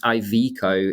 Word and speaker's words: Iveco: I normally go for Iveco, but I think it's Iveco is the proper way because it's industrial vehicle corporation.